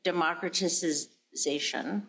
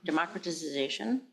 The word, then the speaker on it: democratization: Wilson was about the democraticization. Democratization. Democratization. Yeah, democratization. You guess what? I put I put a little extra syllable in there.